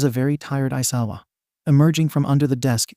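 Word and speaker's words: Aizawa: bag I am your home room teacher shouted isawa and yes that is how you say my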